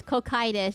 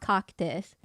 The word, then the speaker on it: Cocytus: It's cocytus, not coctus.